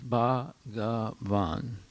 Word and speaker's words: Bhagavan: First of all, it has the three syllables Bhagavan.